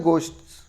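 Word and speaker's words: ghost: What do you know about the गोस्ट्स? आप भूतों के बारे में क्या जानते हैं? यह शब्द है दोस्तों, गोस्ट पढ़ते हैं इसको, इसमें एच जो है साइलेंट है।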